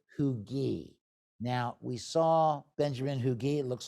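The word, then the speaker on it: Huger: this is Fort hugi now we saw Benjamin hugi looks like hugger but actually it's hugi now you know let's understand pronunciations change so this is a classic earthw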